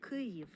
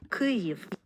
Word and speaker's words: Kyiv: So first of all, here's one of my wife's pronunciations of the Ukrainian pronunciation of the name of the city. Kyiv. And I'll turn it up a bit. Kyiv.